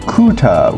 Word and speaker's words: QTTA: One thing too, the QTTA is pronounced kuta, which means I'm full, so it's supposed to be a full meal.